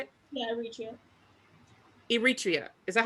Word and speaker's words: Eritrea: Yeah, Eritrea.